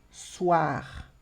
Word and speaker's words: soir: Vou colocar essa, por exemplo, soir, som de UA, percebe? Soir, soir, d'accord?